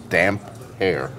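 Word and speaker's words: Damphair: more elimination of it how do you pronounce Aaron Greyjoy's title damp fair that's from Rob I'd damp hair damp hair damp hair cause I should have put a hyphen in between all right this is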